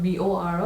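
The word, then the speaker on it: Bodo: It's spelled as B-O-D-O. It's not B-O-R-O, it's B-O-D-O.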